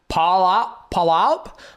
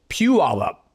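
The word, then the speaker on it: Puyallup: and they don't they don't know how to pronounce it. They're like is that Paul Palop? I'm like no it's pew all up.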